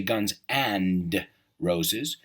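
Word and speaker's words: Guns N' Roses: a lot of abbreviations they don't say Guns and Roses they say Guns and Roses because when you pronounce it that's the way it sounds Guns and Roses Guns and right the D is kind of Silent right guns and roses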